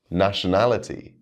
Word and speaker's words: nationality: from the root word nationality falls under rule number six where we stress the third to last syllable nationalistic and nationalization fall